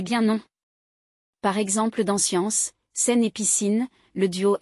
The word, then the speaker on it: science: On pourrait croire qu'on prononce SK comme dans Scarabé ? Et bien non. Par exemple dans science, scène et piscine, le duo SC devient Sège, le T dansion ciel.